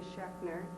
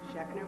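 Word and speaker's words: Schaechner: my name is schner and that's spelled Zs c h a e c h NE R just the way it sounds shner with a z I'm a candidate for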